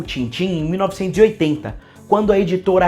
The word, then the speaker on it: Tintin: o nome dele então nem fala tantan a gente fala Tintim que é como tá escrito então no original se escreve Tim Tim e se fala tam tam mas no Brasil se escreve e se fala tim-tim vocês podem me perguntar